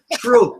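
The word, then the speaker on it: Throop: to doar well he lives in troop it's spelled t hrou o p troop but not tro tro tro I live over in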